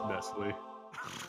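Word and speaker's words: Nestlé: How are you supposed to say it? Nestle? It's Nestle. Nestle? What the fuck's Nestle? It's Nestle. There's an accent on the E.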